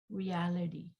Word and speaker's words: reality: t reducing reality reality reality yeah oh that's a mistake here this is a mistake it's it's reality the stress is here reality it's that's not reality